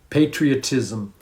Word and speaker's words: patriotism: ever everything together so this m you have to say it patriotism patriotism patriotism yeah so it's love